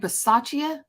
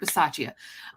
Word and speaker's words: Bisaccia: First of all, Rick Bisaccia, is that how you say it?